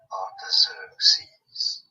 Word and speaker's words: Artaxerxes: Artaxerxes.